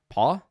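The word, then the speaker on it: Paugh: Paul po pow PFF I don't know how their last name is pronounced I just realized that p a u g h paw yeah I would say paw or it's almost Pew but I don't think it would be that probably Paul um so it's one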